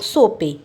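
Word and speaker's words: Tso: पगोंग सोपे। ये T silent रहता है इसमें।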